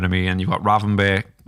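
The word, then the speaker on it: Gravenberch: And you've got Ravenberg. How do you say his name? Gravenberg.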